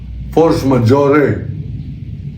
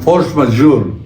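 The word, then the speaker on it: force majeure: Ang kanyang sabi force majore. Mapapatawad ko po siya diyan sa kanyang pagka-bisaya. Hindi kasalanan na mali ang pronunciation.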